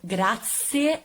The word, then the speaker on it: grazie: use this word to thank all of you grazie a tutti grazie gracias gracias gracias gracias glutton